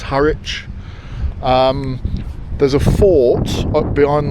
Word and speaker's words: Harwich: I pronounced it Har Witch and got corrected. It's Haritch.